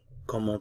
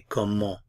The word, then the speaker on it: comment: Now, remember I said generally we don't pronounce consonants at the ends of words. So if I were to pronounce this word by itself, I would say comment, comment. But as I just explained in the previous example, a vowel sound follows.